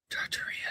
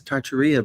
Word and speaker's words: Tartaria: Tarteria sounds way more like a country. That's Tartaria, bro.